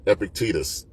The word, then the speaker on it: Epictetus: Um, so these are the golden sayings of Epictectus. Some people pronounce it Epictitus.